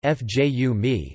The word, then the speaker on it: Fiume: Rijeka, Croatian pronunciation, Rijeka, listen, Italian, Fiume, Fju mi, Slovene, Reka, German, Sankt